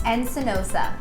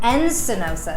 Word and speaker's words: Encinosa: So your last name is Encinosa. Encinosa.